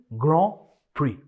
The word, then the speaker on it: Grand Prix: The correct pronunciation is ग्रां प्री।